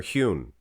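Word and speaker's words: junio: there back in June is it June or hewn I thought it was a San Jose I pronounce it San Jose they said no he was just the J's are like H's so huner July one of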